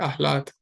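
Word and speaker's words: अह्लाद: प्रहलाद जैसे हम बोलते हैं ना प्रहलाद। तो वैसे ही अहलाद तो ये भी आसान है इसका भी उच्चारण।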